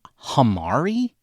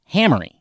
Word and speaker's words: Hamari: and I know that the man pronounces his name like Hammer like Hamry his name is Adam Hamry not hamari and all I can think of is that I just thought maybe it's you know it's spelled like compari so maybe that's how it's pronounced I don't know I